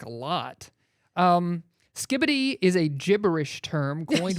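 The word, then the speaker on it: skibidi: It is pronounced skibbity.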